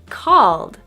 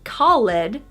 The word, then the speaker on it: called: Number 3, called. Not called, but called. Called.